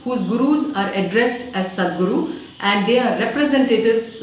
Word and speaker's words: Sadguru: The title Sadguru, pronounced as Sat Guru, in Sanskrit means true